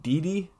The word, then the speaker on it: Didi: So if you're ready, and is it pronounced Didi? Yeah, just Didi.